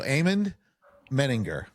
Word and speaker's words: Amon Medinger: So Amon Medinger.